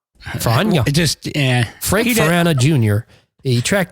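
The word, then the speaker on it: Feranna: Farana? Farana. Farana.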